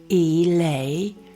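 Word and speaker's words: elaiosome: Now it's spelled E-L-A-I-O-S-O-M-E. And you pronounce it eleosome.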